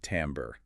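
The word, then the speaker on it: timbre: And that quality is called timbra. You pronounce it tambber. Timber.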